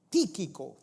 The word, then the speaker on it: Tíquico: a mí se refiere os hará saber Tíquico, con acento en la I primera, donde dice, hermanos, que